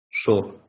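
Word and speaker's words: שור: гов дор мор сод Шор Почему Шора я знаю слово Шор это бык значит Шора не сор Шор дальше Дод видите точка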